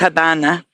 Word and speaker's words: Habana: The locals would pronounce the V a B because in Spanish it's pronounced Habana.